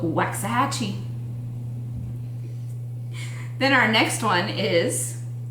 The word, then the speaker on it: Waxahachie: not how we would pronounce it, or anybody from there would pronounce I it. don't think so. That is called Waxahachie.